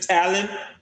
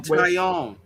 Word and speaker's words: Taillon: Also, staying with the Blue Jays, Jameson Talon. Yeah, it's pronounced Jameson Taillon.